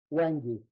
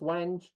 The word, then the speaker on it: wenge: So the wenge is officially pronounced, according to David Marks when I talked to him, wengi. So if you hear me talk about wengi versus wenge, it's just because I